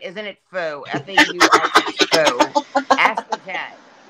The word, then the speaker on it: faux: It's faux. F-A-U-X, so how would the Hugo faux? Hugo faux? Look, faux is faux.